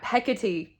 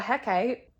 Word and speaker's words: Hecate: when I bought it, that Hecate is how you pronounce it. If anyone has watched my Heroes of Olympus reading vlogs, I fully call her Hecate. And I didn't realize it was wrong until there was like